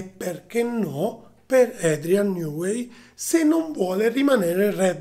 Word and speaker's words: Newey: figura di Adrian newway Anzi Adrian newway così si pronuncia Allora che cosa è